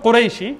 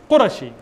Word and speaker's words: Qurashi: You're not called Qurayshi, it's Qurashi. In Arabic, it's Qurashi. It's not Qurayshi.